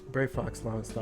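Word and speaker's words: Brayfox's Longstop: Brave Fox Longstop, yeah.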